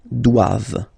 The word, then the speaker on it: doivent: And then the last one, ils doivent, so same thing, classic ending for the plural form, ENT here, okay, but then you don't pronounce it. Doivent, doivent, elles doivent, ils doivent, elles doivent.